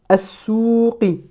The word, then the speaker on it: السوق: Fi as-souqi. Là aussi, pareil, le sin est une lettre solaire, donc on ne va pas prononcer le lam.